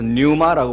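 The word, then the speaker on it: πνεῦμα: 바람이라고 하는 단어가 뉴마입니다 원래는 프리우마인데 퇴짜가 묵음입니다 그래서 류마라고 부릅니다 근데 류마 바람이라고 하는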